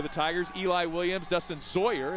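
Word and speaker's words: Zaayer: Eli Williams, Dustin Zoyer is how that's pronounced, Z-A-A-Y-E-R.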